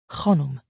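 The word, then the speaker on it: Khanum: "It is pronounced Khonum.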